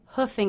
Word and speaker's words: hoofing: somewhere for example I hoofed it to work because I overslept note that the double O here is pronounced as the uh vowel just like cook book and Brooklyn straight from the horse's